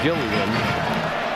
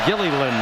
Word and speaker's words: Gilliland: He's been known as Gillian. It's even listed as that in the pronunciation guide at Nebraska. But Holly Rowe saw his dad today before the game, and he said our family name is pronounced Gilliland. That L at the end is pronounced.